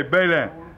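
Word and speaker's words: Beslin: You know that it's spelled B-E-S-L-I-N, and we a joke on them. For years I pronounced it, but it's French, and they say Balin.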